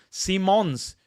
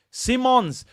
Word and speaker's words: Simons: it correctly Simmons uh see as in the seeing with your eyes and mons like mon Simons Simons Javi Simons what my what was I call him Javi Simmons oh Simons Simons my friends Simons